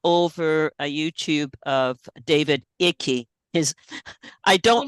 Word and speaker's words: Icke: I mean, I fell over a YouTube of David Icke. I don't like, like it's pronounced David Ick.